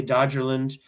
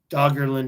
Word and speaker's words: Doggerland: Okay, I always want to say Dodgerland, but I think Doggerland is the correct way to say it.